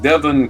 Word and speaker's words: Devon: is how you say it on the North Devon Coast in England sorry what that Devon is